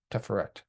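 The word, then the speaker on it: Tiferet: And I place it upon my heart, which is Teferet or Teferet, however you prefer to pronounce it.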